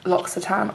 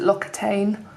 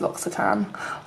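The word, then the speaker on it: L'Occitane: at hand toiletries did you know that it's pronounced locks a time I used to pronounce it look at Ain and then my friend who speaks fluent French I was like no it's lots of time oh okay except he says it with a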